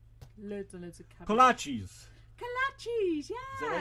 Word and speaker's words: kolaches: Kolaches.